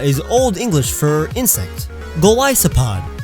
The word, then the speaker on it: Golisopod: Golisopod. It's a Goliath isopod.